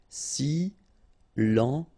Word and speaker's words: silencieux: Final X not pronounced, okay? This part here will be pronounced like cieux, okay? Then you get silencieux. Silencieux.